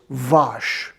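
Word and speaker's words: vache: cow and that is vosh sounds like wash my cow is dirty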